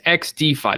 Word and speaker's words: XDFi: uh to learn about xd5 now it is X defi that's how it's pronounced right yeah perfect it's not xdy no